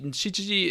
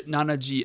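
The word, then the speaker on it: 七時: Oh, I think nanaji is actually used with actually shichiji is the correct reading, but you're gonna hear nanaji at train stations and things like that because over the loudspeaker, shichiji sounds a lot like ichiji, and that causes a crap ton of confusion. So you will occasionally hear nanaji at public transportation locations. So that's why my brain's telling me both are accurate.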